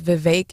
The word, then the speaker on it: Vivek: Stephanie, his name is Vivek, right? Just like Vivek Malik, our state treasurer. What's that last name doing? Ramaswamy. And actually, his first name is Vivek. It rhymes with cake.